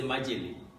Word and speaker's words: majele: Because you're calling it like one word, the A here is silent. So I can't be saying majele, no. I'll just say majele.